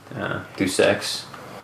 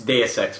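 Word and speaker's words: Deus Ex: that was that and do sex I know I say it wrong but that that was that was it's day of sex by the way that's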